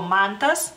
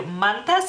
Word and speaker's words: Mantas: no más que algunos yo por ejemplo digo mantas O sea a mí me gusta más mantas pero he escuchado a la gente decir mantas y es lo mismo digamos